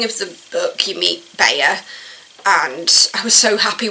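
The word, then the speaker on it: Beyah: they actually has to remind somebody how to pronounce hernics so somebody who calls her beer and so she's like no it's Bae as in like I think of it as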